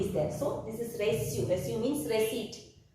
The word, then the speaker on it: reçu: So this is reçu. Reçu means receipt. So when we put cedille, C is pronounced as S.